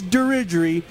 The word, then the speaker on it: Dirigiri: about the name diery some people were saying no no it's dery Jerry and I was like no it's derer I was like we don't we don't really know how to say the name correctly we cleared it up tonight uh before before uh we started shooting here it is derer talk a little bit